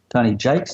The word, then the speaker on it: Jaques: issuing crisis management and put in my name Tony Jakes and spell it right j-a-q-u-e-s no it hasn't got a